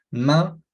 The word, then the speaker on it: main: sencillo ese, bras, manos, main, con este sonido nasalizado de nuevo, main, las piernas, les jambes,